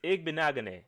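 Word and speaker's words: Igbinoghene: It's Igbenagane.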